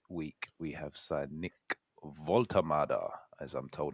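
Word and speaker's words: Woltemade: He couldn't play this weekend, but this week we have signed Nick Voltamada, as I'm told it's pronounced.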